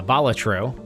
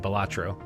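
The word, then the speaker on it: Balatro: And otherwise, I've been playing a ton of uh Bolatro, which I just realized is how to pronounce it. It's hard to say that instead of Batro.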